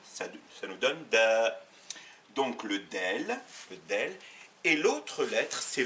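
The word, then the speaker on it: دال: retenir la lettre D qui s'appelle en arabe d'elle et qui se prononce de ça la forme d'un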